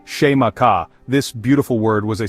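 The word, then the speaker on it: Xaymaca: The name the Tino people gave to their island home was Zaka, pronounced sheaka.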